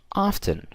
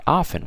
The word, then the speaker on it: often: percent range we use a word called often or often whatever you want to pronounce it both are correct so using the word